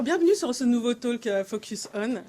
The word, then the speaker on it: FocusOns: quoi alors pour info on prononce focus on dit pas le S mais pour franciser tout